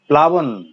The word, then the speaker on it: প্লাবন: একইভাবে দেখো ম্লান, একইভাবে প্লাবন, প্লুত, প্লিহা, ক্লেশ, প্রত্যেক জায়গায় ল উচ্চারিত হয়েছে, শব্দের প্রথম দিকে তা ব্যঞ্জনে যুক্ত আছে, আর এই কারণে সেটা অবিকৃত আছে।